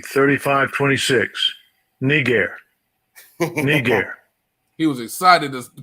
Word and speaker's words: Niger: g3526 you see spelling but look at the pronunciation strong's g 3526 negair niger he was excited to pronounce that one